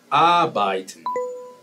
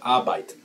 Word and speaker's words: arbeiten: Arbeiten. La R no se pronuncia. Arbeiten.